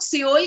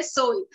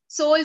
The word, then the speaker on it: Seoul: तो इंडिया में हम लोग सियोल कहते हैं, SEOUL, बट इसका सही करेक्ट प्रोनाउंसिएशन है सोल, सोल।